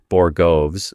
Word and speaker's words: borogoves: Middleton is out here laying down the ponytail of justice and after hearing him talk about Borogoves, which is how you actually pronounce it, I found a couple of interesting things I'd like to share.